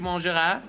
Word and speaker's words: mangeras: For you say tu mangeras. For him, you say il mangera. You fool! Nope, because the one that's you ends with a silent S.